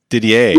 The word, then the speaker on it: Didier: Didier.